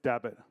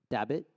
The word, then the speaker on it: Dabbit: It's Dabbit. Dabbit? That's right. Dabbit.